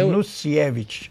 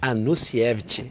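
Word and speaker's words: Anusiewicz: Doutor, dentro dessa questão, eu queria que até eu queria que a pronúncia do seu nome, ela é Anusievich. Anusievich. É polonês, né? Polonês.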